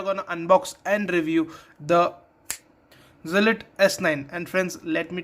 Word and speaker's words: Zealot: Zealot is the correct pronunciation, but you can also say it as Zealot.